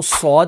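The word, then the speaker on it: صاد: और दूसरा जो लेटर है सौद, तो अब सौद को देखें कि सौद, अलिफ और दाल, तो ये 3 हर्फ जो हैं वो कंबाइन होते हैं, तो सौद प्रोनाउंस होता है।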